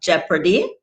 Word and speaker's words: jeopardy: we then also have jeopardy sounds like geoparty leopard sounds like leopard and people that's why